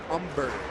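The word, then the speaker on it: Humber: 95 umber at 92 the H is silent in his name Philip umber mil's last time up umber was throwing High fast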